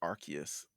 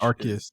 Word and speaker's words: Arceus: we got on it's actually called it's actually pronounced archus which arus I say I say it both ways no